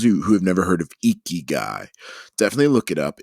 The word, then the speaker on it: ikigai: review for those who have never heard of iki guy definitely look it up it's a wonderful philosophy japanese philosophy it's spelled i-k-i-g-a-i and so essentially what it is